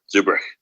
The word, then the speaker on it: Zurbruegg: for people listening uh your last name is spelled Zur b r u e g g so it's pronounced differently than at least people in America would would see it so Zuber so thank you for